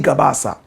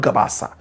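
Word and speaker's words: Gabass: I think it's Ali Gabas. The name is Ali Gabas. Not Gabasa. Gabas.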